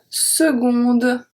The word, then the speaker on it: seconde: And une seconde. Une seconde. So here the C is pronounced as G. Seconde, gonde. I don't say seconde, compte. I say seconde.